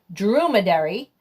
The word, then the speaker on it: dromedary: So I looked it up and I found the right pronunciation, which is dromedary, and it is a one-hump camel.